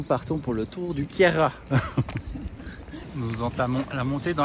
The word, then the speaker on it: Queyras: Fran le franco provenal on prononce pas la fin donc voilà donc vous oubliez tous les mauvaises prononciations que j'ai dû déjà dire quelquesfois et donc nous partons pour le tour du Kiera nous entamons la montée